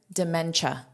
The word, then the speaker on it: dementia: And here, dementia. So, notice this is pronounced as cha cha cha cha.